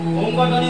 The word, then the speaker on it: ওম: ধ্বনি উচ্চারণ করব তখন আমরা চার ভাগের তিন ভাগ অ আর মটা হচ্ছে এক ভাগ তো এবার আমরা শেখার